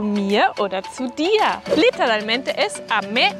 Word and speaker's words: dir: Y la R al final como una A. Mia oder dir.